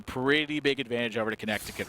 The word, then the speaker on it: Connecticut: this is a pretty big advantage over to Connecticut right now yeah Connecticut really in a good